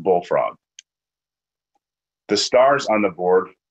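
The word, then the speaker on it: BLFRG: five letters for example the spelling of BL FRG is pronounced bullfrog the stars on the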